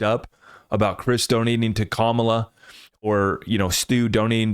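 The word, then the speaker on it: Kamala: Larson another $10 million worth of xrp to camela sorry comma I'm trying to get the pronunciation correct for everybody out there kamla kamla gets another $10 million worth of xrp from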